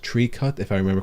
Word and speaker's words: Tricot: Pronounced Tricot, if I remember correctly.